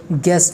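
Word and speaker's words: guest: में के साइलेंट है, गेस्ट में जो है यू साइलेंट है, और इसके बाद स्वाड में क्या के आर जो है ये साइलेंट है।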